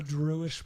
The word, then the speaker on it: Druish: A Druish princess. A Druish, She was okay. from Druidia. Oh, I see. So it's like Instead, rhymes with Jewish.